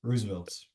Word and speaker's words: RSVLTS: Can we just go back to the fact, is it really called Roosevelt's? Is that the RSVL, pronunciation? yeah, Yeah. RSVLTS, Roosevelt's.